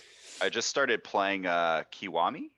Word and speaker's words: Kiwami: just started playing uh kiwami is how you pronounce it it's like the remake